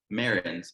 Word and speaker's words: Maryns: small businesses succeed is founder Maryns. Is that how I pronounce it? Yes, you got it.